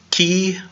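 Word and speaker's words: chi: Now, some people will mess up because in key we transliterate it with a CH, it's CHE, except we don't pronounce the H.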